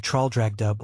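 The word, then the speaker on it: Traldragdubh: It contained a warrant for conducting me and my retinue to Traldragdub or Trildrogdrib, for it is pronounced both ways as near as I can remember, by a party of 10 horse.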